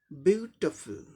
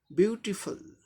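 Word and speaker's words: beautiful: 3 syllables का word है, पहले सिलेबल पे स्ट्रेस है, यानी पहले सिलेबल को स्ट्रेस देके प्रोनाउंस करना है। तो इसका उच्चारण क्या हो जाएगा? ब्यूटीफुल, ब्यूटीफुल, ब्यूटीफुल, ब्यूटीफुल, ब्यूटीफुल, ब्यूटीफुल, ब्यूटीफुल।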